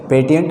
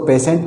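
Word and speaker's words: patient: दिया जाता है कि इसको पेटेंट नहीं पढ़ते, इसको पेशेंट पढ़ते हैं, लेकिन आपने कभी ये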